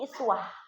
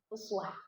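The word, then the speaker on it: أسوة: uswatun, ada yang membacanya iswah. Kalau qiraat hafz dari asim bacanya pakai domah uswah. Tapi kalau qiraatnya warasy ya kalau saya tidak salah itu dibacanya dengan kasrah. Iswah.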